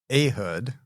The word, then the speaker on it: Ehud: So it's Ehud. Okay. I actually looked it up. Is it really? Yep. Okay, I've said Ehud my entire life, so Ehud is transformational for me.